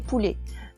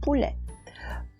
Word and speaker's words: poulet: À Tahiti, on dit poulet, mais dans le sud-ouest de la France, on dit poulet. Et comme c'est le son est qui est à l'honneur, donc il faut le dire poulet.